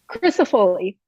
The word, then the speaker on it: Crisafulli: is that how you say it? Crisafulli? Crisafulli. But honestly, it's Italian, we're American, whatever.